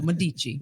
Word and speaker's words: Medici: It's Medici. Okay, Medici.